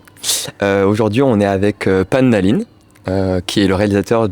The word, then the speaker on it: Pan Nalin: Est-ce qu'on a bien prononcé votre nom ? Nalin. Pan Nalin.